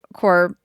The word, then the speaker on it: Corps: missing an e but there's a p in there why is the P silent here's what I found is it clar's mud Cor is a term used to describe a group especially an organized group of people such as soldiers and it comes from the French word cores meaning body corpse it is corpse